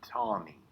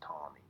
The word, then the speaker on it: Taney: his name is roger tawny she looks like taney it's pronounced tommy if you say taney i don't care you will be asked